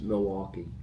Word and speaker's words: Milwaukee: Milwaukee Milwaukee how do you say it it's Milwaukee Milwaukee so I well almost you know there